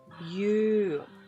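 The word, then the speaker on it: 夕: Evening, by the way, pronunciation is you.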